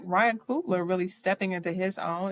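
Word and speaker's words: Coogler: to have and even to see like Ryan Coopler really stepping into his own is that how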